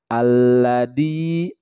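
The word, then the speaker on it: الذي: Alladzi yuwaswisu fi sudurin nas. Alladzi. Nah itu huruf za, bukan huruf da. Jangan dibacanya alladzi. Tapi yang benar adalah alladzi.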